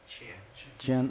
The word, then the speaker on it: Qian: And the whole weight of it, how do you pronounce the first one? Qian? Qian, and the second one is Kun?